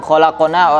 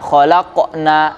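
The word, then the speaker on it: خلقنا: Nah, ini suka yang khalaqana, orang bacanya khalaqna, enggak salah.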